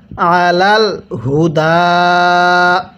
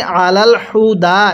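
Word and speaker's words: على الهدى: আলাল হুদা। এখানে হাটা উচ্চারণের সময় গলার মধ্যে আওয়াজ করবেন। অনেকেই আলাল হুদা এরকমভাবে পড়ি, এরকমভাবে পড়লে পড়াটা সহিশুদ্ধ হবে না।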